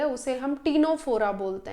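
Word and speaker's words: Ctenophora: आती है उसे हम टीनो फोरा बोलते हैं यहां पे भी सी साइलेंट होता है तो टीनो फोरा इन्हें सी वॉलनेट या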